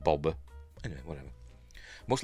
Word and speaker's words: Boba: on one of the most yes I say Boba I don't say Bob if you listen if you watch Star Wars when he's first introduced I think it's it's pronounced Boba anyway whatever most like Leah is pronounced Leah